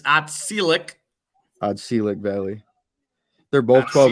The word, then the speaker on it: Otselic: Oh, Teslick and a Oriskany. I say it right? No, it's Otselic.